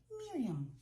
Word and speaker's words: Miriam: name is Miriam and for people who want to pronounce it correctly I just tell people to say it with the nose Miriam I was born in